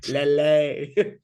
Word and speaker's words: Lille: It's Lele.